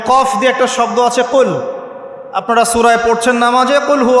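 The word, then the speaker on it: قل: যেমন কফ দিয়ে একটা শব্দ আছে কল।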